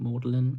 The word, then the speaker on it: Magdalen: Magdalene, but it's pronounced Mlin apparently.